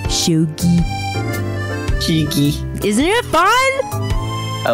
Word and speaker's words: shogi: Shogi.